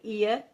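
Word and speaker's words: heir: की बात होती है अगर यर जो कि एच यहां पर साइलेंट रहेगा एच का साउंड नहीं होता है ई का साउंड होता है यर्स यर का मतलब होता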